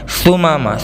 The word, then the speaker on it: ثمامہ: ثمامہ ثمامہ میں سا ہے, الف با تا سا, ثمامہ.